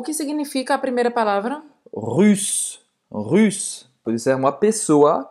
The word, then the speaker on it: russe: Russe. Russe. Russe, biquinho. Você vai fazer a boca do U em português e você vai tentar pronunciar I, certo?